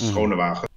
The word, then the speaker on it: Schonewagen: Yeah, it's a very difficult surname to pronounce. It's Schonewagen.